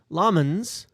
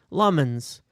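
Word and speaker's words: Lammens: Wow, that's a lot easier than the way we've been saying it, hasn't it? Lemons. Feels good, man. So, it was very great. It was great to see the video from from Senna Lmens uh giving us the the the um the the proper pronunciation of his name so that we can actually talk about him sensibly. We've gone we've had lemons l lemons.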